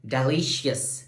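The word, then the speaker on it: delicious: डेलिशियस, देखो डेलिशियस, डेलिशियस, तो ली हमारे पास सेकंड जो सिलेबल है, that is द stress syllable.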